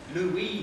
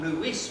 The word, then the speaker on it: Louie: had to tell people how to say his name Louie not Louis when he first met